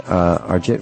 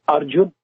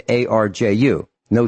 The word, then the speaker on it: Arjun: We'll be right back, and Arjit will be right with you.